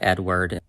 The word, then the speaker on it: Eadweard: you know I'll all crazy Ed but it's pronounced Edward and he was in fact born with it